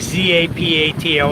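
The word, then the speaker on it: Zapatos: As it's spelled on some maps SA P A T O S, but it's really Z A P A T O S.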